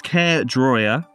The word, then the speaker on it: Caerdroia: Caerdroia. Caerdroia. I always say Caerdroia, but it's Caerdroia.